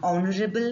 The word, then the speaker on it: honorable: have we call it mute h words with mute h such words take an because they begin with a vowel sound you have examples here an r an owner an heir an honorable man an honest citizen